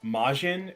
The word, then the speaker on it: Majin: looks like um the the actual pronunciation is Majin and not Jin so like like it's